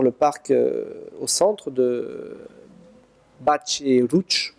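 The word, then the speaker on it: Batlle i Roig: Et qui donne sur le parc au centre de Batch et Rouch, pour prononcer à peu près comme les Catalans. Vous dites en général Battle et Roig, mais c'est pas comme ça que ça se prononce.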